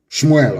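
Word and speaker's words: שמואל: Let me tell you what Samuel said. Shmuel, of course, correct pronunciation.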